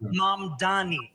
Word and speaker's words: Mamdani: The name is Mamdani.